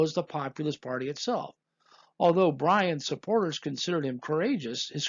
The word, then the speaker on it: Bryan: Bryan, which rhymes with lion and a near homonym of lying, was known for his